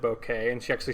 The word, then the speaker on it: bokeh: bokeh or Bok and she pronounces it bokeh and she actually spelled